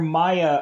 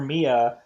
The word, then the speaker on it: Mia: the funny thing where maya or mia uh i wanna say it's mia cause i think that's the correct pronunciation of this name so let's get it